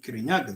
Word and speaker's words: Kirinyaga: Kikuyu called it Mount Kirinyaga. The white person couldn't pronounce Kirinyaga. He said Mount Kenya.